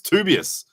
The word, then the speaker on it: Tobias: It's Tobias. According to Pradeep, who did a pronunciation episode.